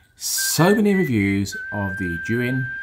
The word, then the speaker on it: Zhiyun: There's already so many reviews of the Zhiyun, and I think that is how you pronounce it, not Zion or Zhiyun, Zhiyun Weebill-S